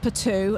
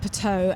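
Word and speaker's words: Puteaux: We thought it was pronounced Patou, and we keep saying Patou. So if I say Patou, that's why, because It's more like Bordeaux, isn't it? But it's pronounced Pateau, and it's like, it's a suburb outside.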